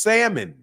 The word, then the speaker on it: salmon: an L in it they pronounce the L over here they don't pronounce the L it's salmon yeah just like how